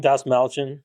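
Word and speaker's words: Dastmalchian: Das Malchin.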